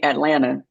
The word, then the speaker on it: Atlanta: You should say Atlanta. Atlanta, Atlanta. Yeah. Atlanta. There's Yeah. the second T is silent if we're Oh, really getting granular.